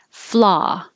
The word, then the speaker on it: flaw: Flaw. So there's no W sound, there's no rounding of the lips, it's just ah, flaw.